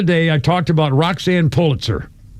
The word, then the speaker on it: Pulitzer: On this day in 1992, a guy named John Hagen files for divorce from Roxan Pulitzer or Pulitzer is how it's pronounced.